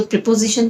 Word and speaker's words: proposition: एक होती है प्रीपोजिशन और एक होता है प्रपोजिशन। तो प्रीपोजिशन तो हम अंग्रेजी व्याकरण में इस्तेमाल करते हैं, यहाँ पे वो नहीं है। यहाँ पे जो स्पेलिंग है प्रपोजिशन की वो है PROPOSITION, प्रपोजिशन।